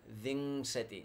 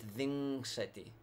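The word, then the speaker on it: viṃśati: and Vanzetti is 20 ving city not the machete but ving city yeah so this is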